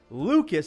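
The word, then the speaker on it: Lukes: not a pinch hit double by the way it's spelled Nathan Lucas but they say Lucas if I'm saying that wrong please let me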